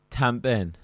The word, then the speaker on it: tamping: Tampin. Tampin. So Tamping. But again, the lovely Welsh would not say the G, so it would be tampin.